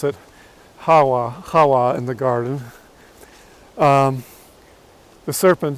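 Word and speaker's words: חַוָּה: And these powers are led by the serpent that deceived Hava in the garden, or probably as we should pronounce it, Hawa in the garden.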